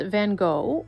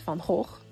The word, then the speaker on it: van Gogh: Vincent van Gogh, or Vincent van Gogh, as he is Dutch, so that's how you pronounce his name.